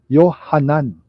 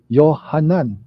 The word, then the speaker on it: Yohanan: diyan sa labas and in Hebrew John is pronounced as yohanan yohanan na ang ibig sabihin